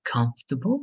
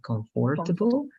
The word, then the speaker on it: comfortable: careful with the pronunciation remember that o is going to disappear and the stress in the first part so comfortable right instead of comfortable comfortable but this is